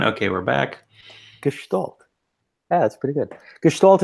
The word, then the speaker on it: Gestalt: And you can pronounce it better probably than I can. Gestalt means... Gestalt, like that, yes.